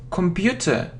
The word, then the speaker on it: computer: I don't know why, but I always hear computer. Computer. It isn't ko. It's ka. So this sound is a.